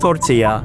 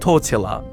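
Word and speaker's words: tortilla: And yes, it is indeed pronounced tor-tee-uh, not tor-till-a.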